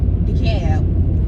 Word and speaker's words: DeKalb: A girl I know from Atlanta, she said it's decab.